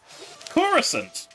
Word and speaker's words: Coruscant: I had to be careful how I pronounce that. Coruscant!